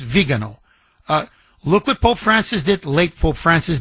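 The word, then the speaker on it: Viganò: And you know you mentioned, you know, it's it's actually it's pronounced vigo. I know when we Americanize it with vago, but literally it's vegano.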